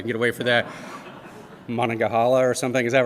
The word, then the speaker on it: Monongahela: Monongahela or something, is that right? Is that close? And I was like, is it the Monongahela River?